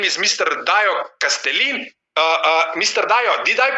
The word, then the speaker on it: Kastelein: Small practice is okay, Domen, but it's obviously very Dutch, so it's Kastelein.